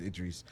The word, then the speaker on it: Idris: He says his name wrong. It's supposed to be Idris, because my name is Idris, and it's spelled the same way.